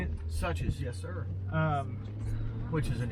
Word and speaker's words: Suches: Suches, yes, sir.